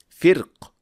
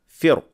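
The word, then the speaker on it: فرق: The word firq is pronounced with heavy ra in Al-Fil, but in Ash-Shatibiyyah it can be pronounced with light ra, firq, or with a heavy ra, firq.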